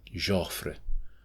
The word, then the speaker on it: Joffre: Joffrey has nothing to do with Joffrey, which is anyway pronounced something like Joffrey.